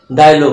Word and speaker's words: dialogue: GUE যদি থাকে সেটা গয়ের মতো উচ্চারণ হবে। যেমন মনে করো যে ডায়লগ, ক্যাটালগ, ডায়লগ বানান কি?